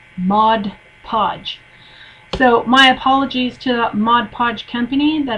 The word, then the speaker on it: Mod Podge: I was talking about modge podge and my wonderful friend rain Phoenix corrected me and said it's not Mod Podge it's Mod Podge so my apologies to